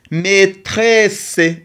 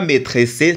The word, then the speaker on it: maîtresse: A I ça donne le son et maîtresse et double e ça donne le son C. Maîtresse, c'est pas maîtressé parce que ici c'est le mué, on ne le prononce pas.